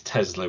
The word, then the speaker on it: Tesla: cuz they didn't know it is Tesla with a zed um it's not spelled